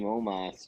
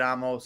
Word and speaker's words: Omos: I hate Amos so much. I have zero interest in anything. Why he doesn't say his name Omos.